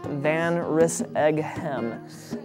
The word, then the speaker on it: Van Rissighem: You pronounce it Van Rissighem. So if you imagine in your head a van, a wrist, an egg, and a ham, and you kind of mush it up, it kind of starts to make sense.